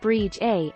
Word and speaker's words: Bride: In the Scottish Gaelic language, the name is spelled Bride and is pronounced Brige A.